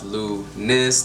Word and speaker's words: Lunice: My name is Lunice, pronounced as Lunice, to be sure people get it right.